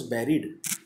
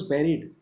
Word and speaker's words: bury: देखिए spellings, BURY, जिसको कि बरी बोला जाता है, इसको हम बरी नहीं बोलेंगे, इसको हम बैरी बोलते हैं। बैरी जैसे बेर होता है ना, BERRY।